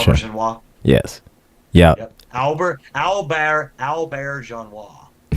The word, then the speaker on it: Auberjonois: Is that how you pronounce his name? I'm not sure. Auberjonois.